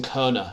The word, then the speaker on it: Kohne: I think it's Kohne. Jason Kohne is how you say his name, the German way.